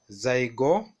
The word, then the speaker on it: Zygomycota: Pronounce with me, Zygomycota.